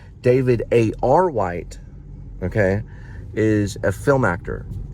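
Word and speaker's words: David A. R. White: white and I get I got his name wrong earlier for some reason I called him aw white sorry about that David David a r white okay is a film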